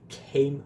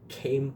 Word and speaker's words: came: Queime, mas não fala o e no final, queime, queime.